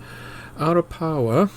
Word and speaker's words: Arapawa: To stop any confusion and so you can get better bearings, Arapawa is spelt two ways, A-R-A-P-A-W-A and A-R-A-P-A-O-A, and as it happens both words are pronounced identically.